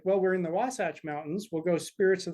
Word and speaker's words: Wasatch: the state I realized people didn't know how to pronounce wasach so I started saying wasach like SAS watch right that just kind